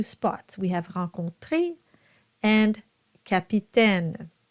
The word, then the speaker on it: capitaine: So the first one is an A sound and the second one is an E sound. Why? It's very simple. It's whether or not you have a syllable that follows that AI. So in the first case, you don't, so it's an A, and in the second case, you have that NES, and that will qualify your AI as an E sound.